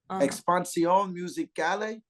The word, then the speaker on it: Expansión Musical: Expansión Musicale or musical.